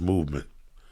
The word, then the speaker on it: MVMT: Anyway, but what Lee is sporting with all new fairness is a beautiful MVMT watch. Pronounced movement.